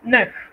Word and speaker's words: neuf: Si usted ve escrito EU, usted debe pronunciar E, y debe hacerlo tratando de empujar los labios un poco hacia adelante, porque este es un sonido que no existe en español, entonces hay que practicarlo en casa bastante.